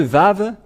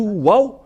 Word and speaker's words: vav: dans l'alphabet voilà le vave voilà vave ou vave c'est bien ça donc c'est pas du tout waouh mais on le prononce bien vav et le vave est